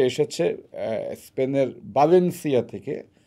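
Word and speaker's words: Valencia: আলবারে সে এসেছে স্পেনের বাঞেনসিয়া থেকে আমরা হয়তো উচ্চারণ করি ভ্যালেন্সিয়া কিন্তু স্প্যানিশের বি এর উচ্চারণটা বি এর মতই আচ্ছা বাসিয়া থেকে এক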